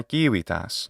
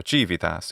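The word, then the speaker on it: civitas: city is represented by kiwitas this isn't particularly surprising because the literal english word city is from of course kiwipas or jivitas if you want to use ecclesiastical pronunciation compare it of course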